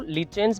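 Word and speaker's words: lichens: और ऐसे रिलेशनशिप से जो ऑर्गेनिज्म फॉर्म हुआ उसको हम लाइकेंस कहते हैं, कुछ लोग इसको लीचेंस भी प्रोनाउंस करते हैं।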